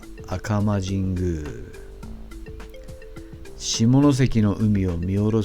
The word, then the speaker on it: 赤間神宮: À côté de Shunpanrō se trouve le sanctuaire d'Akama (prononcé Akama Jingu) qui surplombe la mer de Shimonoseki, avec ses bâtiments de sanctuaire rouge vif.